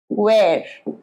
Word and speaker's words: where: এইটার pronunciation where, where নয়, হ নয়, where এটা when, where, when, where, when নয়, হ উচ্চারণ হবে না, where, when, once more, where, when, wonderful।